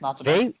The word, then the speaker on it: Natsume: made by, and I don't know if I'm pronouncing this right, Natsume maybe? Natsume, that's how I usually say it. Yeah, it's Natsume.